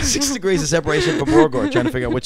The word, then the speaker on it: Borgore: They just make fun of the way I say it because I put it like two syllables. So what's it supposed to be? It's supposed to be like Borgore.